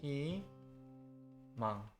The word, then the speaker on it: 희망: 무, 니, pattern, and 희망, hope, 회의, meeting, 주의, caution. And 의 in these 4 words are all pronounced as e.